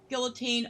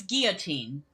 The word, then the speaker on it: guillotine: it that way it's I know it's Guillotine but like uh most Americans pronounce it Guillotine it's Guillotine which means that probably the